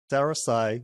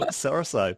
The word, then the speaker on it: SaraSai: Today on Founders Go Naked, we have a very, very special guest, which is SaraSai. Correct me if I'm pronouncing that That's incorrectly, SaraSai.